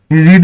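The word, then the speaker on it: read: এখানে, I have ever রিড এর third form তো রিড, রিডই হয়, বানান চেঞ্জ হয় না, উচ্চারণটা সেকেন্ডে চেঞ্জ হয়, মানে সেকেন্ড ফর্মে রিড, রেড, রিড।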